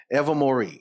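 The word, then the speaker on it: Ilvermorny: it's ever more ever ever ever ever Mory ever Mori is it's spell weird but it's it's it's it that's how it's pronounced I listen to guy on YouTube five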